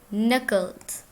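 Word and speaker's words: knuckles: नकल्स crack यर नकल्स इसमें के है साइलेंट तो हम इसे पढ़ेंगे नकल्स क्रैक योर नकल्स हाथ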